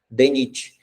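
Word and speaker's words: DNIT: Primeiro pronunciamos a letra D, e depois o restante da sigla, NIT, NIT, a gente pronuncia como se fosse uma palavra, DENIT.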